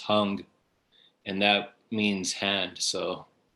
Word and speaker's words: Hang: gonna mispronounce it but the word it's h-a-n-g but it's pronounced hung and that means hand